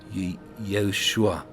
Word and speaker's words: Yeshua: And that's why we say Yeshua.